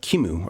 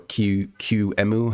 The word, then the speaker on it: QEMU: well we can use uh Kimu or Q qemu however you prefer to pronounce it so I'm going to